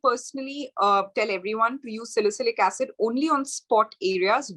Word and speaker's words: salicylic: Is that how it's pronounced? Yeah, salicylic acid and niacinamide.